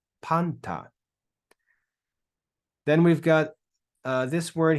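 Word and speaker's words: πάντα: Then we have an alpha with an acute accent, so we're going to stress that first syllable. Then we've got the consonant nu, which is like an N. We've got the letter tau, and it ends with alpha. So we read this as panta, panta, panta.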